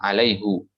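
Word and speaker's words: عليهُ: Adapun jumhur membacanya dengan alaihi, ya. Jumhur membacanya dengan alaihi bi kasril ha. Ada huwa syai'. Ini yang lebih masyhur, ya. Baik, jadi hanya Hafs saja yang membaca di situ. Kenapa Hafs membacanya hu? Karena Hafs melihat dari huruf pertama domir huwa. Hu-nya di situ domah apa kasrah di situ? Domah Ustaz. Domah alaihu.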